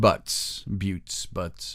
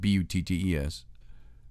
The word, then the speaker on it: Buttes: or to the Red Buttes, however you want to pronounce it, B-U-T-T-E-S. I think it's Buttes.